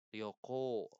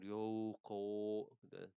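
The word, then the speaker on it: 旅行: Ryoko bukan Rouo beda ya. Yoko konya yang panjang enggak Roko Ryoko bukan juga kayak gitu nih soyokote.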